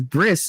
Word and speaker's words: bris: the pronunciation was different I used to call them both Brie but no Bri is a cheese bris is you know when the mo goes and removes the foreskin at a whole ceremony